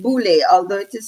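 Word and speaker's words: Boulé: The Boule, it's pronounced Boule, although it is spelled Boule.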